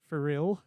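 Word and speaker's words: Phyre: it was built using Free engine. Free engine. Free engine. That's interesting. For real engine. Yes. Want to say how it's spelled? Nah. It's PHYR. it's a little out there. Free.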